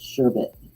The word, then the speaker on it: sherbet: it's not called server it's called sherbet sure but there's no r at the end of it it's s-h-e-b-e-t that's like